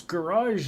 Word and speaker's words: garage: of the woods saying how do you pronounce Garage in Canadian garage yeah it's a soft G on here we don't do the